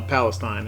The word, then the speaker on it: Palestine: up through huntsville palestine well palestine is how that's pronounced in texas to dallas and then